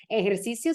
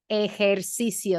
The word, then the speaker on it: ejercicio: The first syllable is e. Then the next one's going to be like hair, the thing you have on your head. Hair. Then you need cio, ejercicio. You need to make 5 sounds. Ejercicio. Sometimes people like to drop a syllable in this word, because I know there's a lot going on, but you need to have 5 sounds.